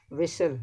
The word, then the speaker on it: whistle: Whistle, again H is not pronounced.